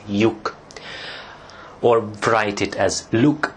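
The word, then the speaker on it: lyuk: So some people actually pronounce this as look instead of yuk, or write it as look instead of yuk.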